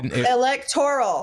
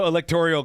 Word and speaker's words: electoral: electorial college is because electoral there is no electorial college right now pronouncing it wrong whatever you guys you